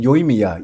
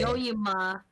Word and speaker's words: Yoimiya: Yoimiya. Yeah, Yoimiya. Yoimiya. Goodness. Yoimiya. Yeah. Yoyima. Oh my Yoimiya. god, my pronunciation's so bad.